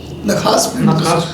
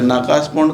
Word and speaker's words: नखास पिंड: नखास पिंड तो जान रहे थे, नाकास पॉन्ड कहाँ है? सॉरी, बुक में सर नाकस ही लिखा हुआ है सर, मुझे इसलिए। अच्छा, हमने उसका उच्चारण गलती पढ़ लिया होगा।